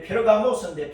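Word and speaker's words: Πέργαμος: 없지만 버가모 교회를 보면은 버가모라는 뜻이 헬라어 원 발음이 이제 페르가모스인데 페르가모스 버가모라고 우리가 한글 성경에서 그렇게 이제 음력을 했는데 페르가모스라는 이 단어는 따라서 강하게 하다.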